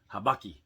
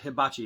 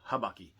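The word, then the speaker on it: habaki: and that is called your uh habakki so i'm not hibachi it's not where you're getting your food this is the habakki so that from there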